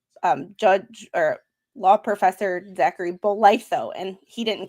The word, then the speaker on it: Bolitho: And the pronunciation of his last name is Bolitho.